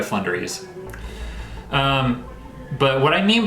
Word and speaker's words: Floowandereeze: uh for sure and i am going to be pronouncing it with their ocg flunderies instead of flow under these because you know it sounds like flow under these nuts i'm not gonna make that joke i've made it plenty of times before um but from here on out i'm just gonna pronounce it by flundries um but what i